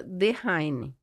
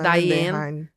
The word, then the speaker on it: Dehaene: Eu acredito que a pronúncia seja Dehaene. Ou muitos já vi falando Diane.